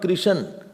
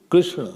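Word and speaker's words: कृष्ण: Krishna would be Krishna, not Krishan. Half, you cannot make half full. Krishna, it will be totally wrong, you will get 0 marks.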